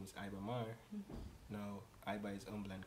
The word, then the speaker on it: Mahr: So my name is Iba Mar. Now I is humble and calm. Is two separate words. Yeah. And MAR is spelled M A H R and it's really an acronym.